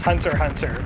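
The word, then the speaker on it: Hunter × Hunter: fox star will be it's just pronounced hunter hunter but most people say hunter x hunter anyway this is a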